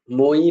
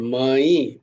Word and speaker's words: ময়ি: ময়ি, ময়ি, মই নয়, ময়ি, ময়ি, ময়ি সর্বমিদং, সর্বম ইদম, সর্বমিদম।